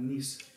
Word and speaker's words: Nice: That's pronounced Nice, N-I-C-E, however you want to pronounce it.